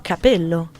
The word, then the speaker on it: capello: Cappello e capello. Ok, I give up. Mi arrendo. Non capisco. Allora, il plurale... Cappelli o capelli. Ok. Alright, lo dici tu. Due P, una P.